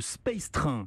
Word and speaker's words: Space Train: Leur projet, c'est le Space Train. Ça se prononce comme ça.